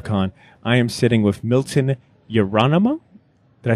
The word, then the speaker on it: Milton Yerolemou: I am sitting with Milton Yerolemou.